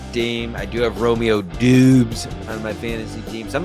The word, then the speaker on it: Doubs: I do have Romeo Doobes on my fantasy team. Some people say doubs. I say doobes. A lot of people say doubs. I pronounce it as it's spelled.